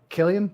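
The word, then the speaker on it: Cillian: is thatan Killian San Killian Murphy I'm pretty sure it's Killian start with the c so I don't know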